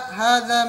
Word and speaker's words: هذا: La, hadha masjidun. Man hadha, who is this? So there's notes at the bottom. Number one, hadha, pronounced hadha, but it's written without the first alif.